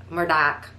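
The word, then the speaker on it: Murdaugh: if you're from south carolina the uh murder murdoch um although it's spelled like murder case um again and it's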